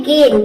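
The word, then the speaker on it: gain: इसमें भी देखिए ए आई के बाद एन आया है, तो जब भी ए आई के बाद एन या फिर एल आ जाए तो ए आई को हम ए प्रोनाउंस करेंगे।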